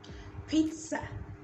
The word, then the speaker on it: pizza: this sound pizza pizza a lot of you pronounce it with the spelling and i told you